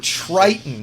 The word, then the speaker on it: Triton: It's Triton, not Titan, but Triton.